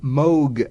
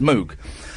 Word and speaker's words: Moog: And of course, everyone says Moog, and I've now got that thing where someone says, "Oh, it's the Moog." I go, actually, it's pronounced Moog, and I don't want